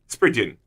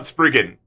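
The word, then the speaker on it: Spriggan: p r i g g a n is pronounced sprid yum sprin not spren crazy but I've got this fun little uh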